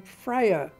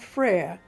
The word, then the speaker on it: Fraer: my father, Jack Fraer, pronounced the name Fraer, two syllables. No other members of the family did. Thelma, Jack's sister, and his uncle Hugh Fraer, and his family all pronounced it the phonetic way of its origins, that of Fraer, one syllable, the French word for brother.